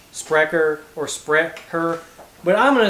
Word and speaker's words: Sprecher: sandwich it's probably like sprecker or spr but i'm going to say spreacher that's how we pronounce chs in alabama as established in milwaukee